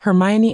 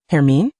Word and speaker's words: Hermione: "Hermione," she annunciated slowly. "Hermine?" "No, it's Hermione. Hermine."